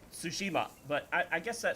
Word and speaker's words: Tsushima: because apparently a character in the game incorrectly pronounces it sushima so apparently re eating sushi on ghost of sushima it's tsushima but I I guess that sounds the same